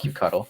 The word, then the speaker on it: kubectl: I'll call it kubectl. I call it kubectl too. It sounds like cute, like cute cuddle.